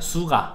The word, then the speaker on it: SUGA: 슈가도 이제 설탕이 아니라 수가 SUGA.